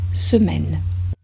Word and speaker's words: semaine: du tout une semaine ici le premier e de semaine est prononcé comme le premier e de semestre mais avec les lèvres projeté en avant semaine